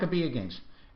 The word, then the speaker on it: Maccabi: Now, I understand there is also if I'm pronouncing this correctly, the Maccabi Games? Maccabi Games. Right? Maccabi Games.